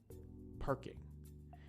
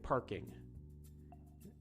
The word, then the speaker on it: parking: Parking, parking. It's still there. I'm not saying parkin', I'm saying parking. And then, of course, in Japanese, pakingu.